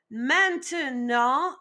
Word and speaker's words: maintenant: Maintenant.